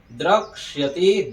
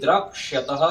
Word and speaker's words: द्रक्ष्यति: ऐसे यहाँ पर द्रक्ष्यति जो श होता है ना उसमें क और मूर्धन्य स रहता है, इसलिए द्रक्ष्यति द्रक्ष्यति यह है यहाँ पर, तो द्रक्ष्यति द्रक्ष्यतः द्रक्ष्यन्ति।